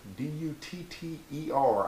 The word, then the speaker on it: Dutter: And that is Wes Dutter, D-U-T-T-E-R, I believe is how you say that, Dutter, from Wichita Falls, Texas.